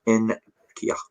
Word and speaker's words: Nketiah: Apparently it is pronounced Nketiah.